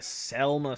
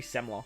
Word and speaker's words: Semla: And then special 2 turns recovery orbs into Selma slots. Isn't it? It's meant to be Semla, right? Yeah. I used to say Selma. See, this is where I probably got it from. It's Semla.